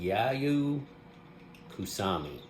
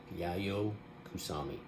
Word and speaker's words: Yayoi Kusama: Her name, I believe you pronounce it Yayoi Kusama. Yayoi Kusama.